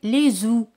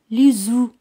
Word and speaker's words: œufs: Los huevos se dice les œufs. La letra F es muda, no se pronuncia, pero al decir un huevo se dice un œuf.